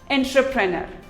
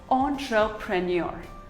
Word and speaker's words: entrepreneur: are a silent engineer here's another word most of us pronounce it as entrepreneur while it is actually pronounced as entrepreneur ontra premier entrepreneur debris it is not